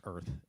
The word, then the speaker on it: Urth: It's Earth. I'm not ruining anything if you haven't read the book because it's spelled URTH.